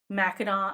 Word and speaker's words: Mackinac: um and also like mackinaw island is spelled mackinac with an ack at the end but it's actually mackinac or whatever that's not